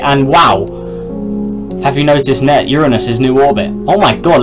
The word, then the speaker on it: Uranus: And I am saying it correctly, it's not your anus, it's Uranus.